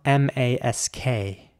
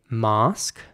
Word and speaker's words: mask: you pronounce that one once again in British English people would say mask and then American English people might say mask it is again the a I want to stress here so mask with an